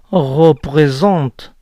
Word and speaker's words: représente: El verbo representa se pronuncia représente, pero ella omite la primera E.